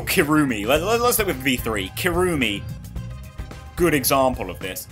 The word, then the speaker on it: Kirumi: let's look with V3 kirumi good example of this it's kirumi because you annunciate the not annunciate you stress the first syllable kirumi is more the